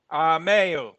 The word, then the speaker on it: Meyer: Is it Meyer? I like to say it right. What's the right way to say it? Mayor.